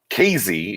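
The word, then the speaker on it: Kazee: KZ is the pronouncer, is the actual way you pronounce it, but I've been calling him Kamikaze forever.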